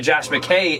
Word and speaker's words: Josh McKay: Josh McKay in the building.